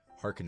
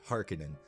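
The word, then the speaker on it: Harkonnen: Harens or the har someone commented on the on on uh my video that I did of the first one saying that that I was pronouncing hekken and wrong uh and you know what I will concede and I will say hekinan so Austin Butler plays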